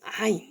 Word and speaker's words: ع: Al-Ain, on ouvre la bouche, les lèvres, et on dit Ain. Ain. Elle est douce. Ain. D'accord? On gratte pas.